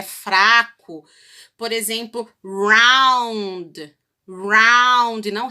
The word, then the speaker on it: round: Ele não é um R assim forte como de cachorro. Ele é pronunciado com a ponta da língua tocando o céu da boca. Então, ele é fraco. Por exemplo, round, não round.